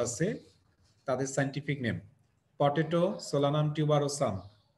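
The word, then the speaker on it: Solanum tuberosum: Solanaceae ফ্যামিলির যে important crop প্লান্টগুলো আছে তাদের সাইন্টিফিক নেম পটেটো, সোলানাম টিউবারোসাম, উচ্চারণটা মনে রাখবা, আমি যেভাবে উচ্চারণ করছি সেভাবে মনে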